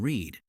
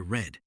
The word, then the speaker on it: read: The spelling stays the same, but the pronunciation changes from read to read.